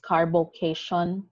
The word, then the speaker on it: carbocation: again remember how they are pronounced this is a carbo cat ion and a carbon ion so do not read this as as carbocation or or carbonyl again